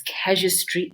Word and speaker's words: Casuistry: So it's Casuistry Institute, right? So think casualty, but casuistry, right?